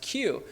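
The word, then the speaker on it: queue: I remember growing up seeing pictures of the Chinese, I think it's pronounced Q, where a man would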